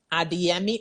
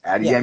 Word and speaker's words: Adeyemi: I want to talk a little bit about Adeyemi Artistry. Did I pronounce it correctly? Yes. Adeyemi Yes.